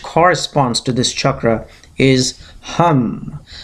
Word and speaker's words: hum: And the mantra associated with this chakra, or which corresponds to this chakra, is hum. So you write H-U-M and you'll get the right pronunciation.